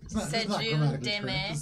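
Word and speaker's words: Cel'jun'd'me: And you said Seljun Deme. It is spelled C-E-L-J-U-N apostrophe D apostrophe M-E.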